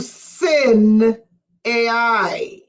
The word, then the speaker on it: Sinai: got it the Bluetooth smk addresses okay sin Sinai is not the proper pronunciation it is sin AI Retta where are